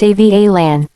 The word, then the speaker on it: Avalon: The Bump says, Avalon as a girl's name is pronounced Avalan.